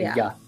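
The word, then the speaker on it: ja: And J's are Y's. Yes. So anytime you see a J, it's pronounced as a Y, like a ya. Yeah. Ya is yes.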